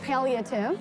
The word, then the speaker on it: palliative: The word is palliative. Palliative. Mm-hmm. Can you spell it for me?